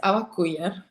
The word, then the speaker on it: Awak: So, I'm here with Awaku, right? That's that's the proper way of pronouncing your name. Yes. Awaku.